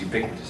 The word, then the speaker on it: ubiquitous: Ubiquitous. Yeah. 4 syllables. 4 syllables!